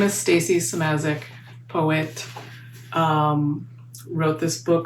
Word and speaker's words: Szymaszek: My name is Stacy Samazic, poet.